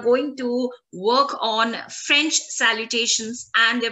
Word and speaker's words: salutations: We have just done the pronunciation of the letter A and it is pronounced as a. Together it will be saluta, saluta, saluta, saluta. And the pronunciation of T-I-O-N-S is going to be salutation, salutation, T-I-O-N-S, sion, sion, sion, sion.